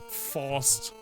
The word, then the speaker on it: Faust: But Faust. In German, it's pronounced Faust, and it's the word for fist.